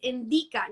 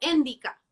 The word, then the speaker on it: Endika: Hago mal la entonación, ¿cierto? Es Endika, no Endika, Sí, ¿cierto?